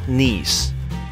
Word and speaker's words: Nice: I reached my destination nice nice sorry it's pronounced nice I went straight to